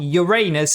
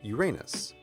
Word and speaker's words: Uranus: seventh planet is pronounced Uranus. Of course, to a kid, Uranus sounds an awful lot like your anus which is how I